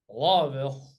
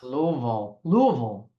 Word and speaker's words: Louisville: Lawville. All right. Louisville. You have to Well, say it like the locals.